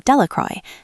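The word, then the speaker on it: Delacroix: Bobby and Harry Jones and Dicky Delcro, the villagers pronounced this name Delroy, eventually made a great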